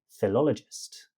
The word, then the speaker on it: philologist: Syllables first, second, and third or lots more if you're a philologist. Philologist. Fear lol o gist. That word makes me lol with the other sounds lolled with the stress of the second sound.